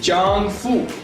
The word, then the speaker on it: 丈夫: In Chinese, ZH is pronounced as ch, and it is chang. If I put F and U, it becomes fu, chang fu.